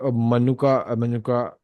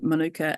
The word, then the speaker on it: Manuka: Also, like Manuka honey, am I pronouncing this right? Yeah, Manuka honey.